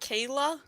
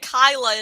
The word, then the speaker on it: Kayla: So her name's pronounced Kayla this Yes. whole time? I've been saying it Kyla in my head this entire time. See, I was saying Keela.